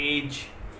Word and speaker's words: edge: जैसे एग्जांपल हम देख सकते हैं, जैसे एज, EDGE, G से पहले क्या आ गया D, तो D का जो साउंड है वो नहीं आएगा, तो एज।